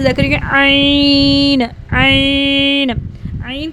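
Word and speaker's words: ع: तो अब हम पढ़ेंगे आइन, आइन। आइन को हमने हलक के दरमियान से, आइन इज़ the pronounced from the middle of the throat, ठीक है। इसको हमने आइन को मिडल थ्रोट से अदा करना है।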